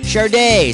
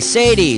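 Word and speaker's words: Sade: is spelled s-a-d-e how the heck do you pronounce that charday Sadie sad or sod a it's pronounced Chardonnay nice work you really made the grade I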